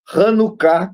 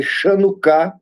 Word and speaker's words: Hanukkah: Está em João, capítulo 10, versículo 22, quando ele fala da festa da dedicação, ou a festa do Hanukkah, que se escreve Chanukkah, e essa festa do Hanukkah, ela nasce justamente do cumprimento de Daniel 8,14.